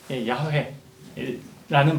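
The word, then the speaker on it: יהוה: 그래서 학자들의 연구한 끝에 발음교가 이것이지 않았을까 추측한 게 야훼라는 발음이다라는 거예요.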